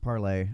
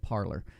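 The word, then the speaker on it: Parler: need y'all to understand it's originally a french company it's pronounced parlay and i know all you damn americans keep pronouncing it parlor because you all just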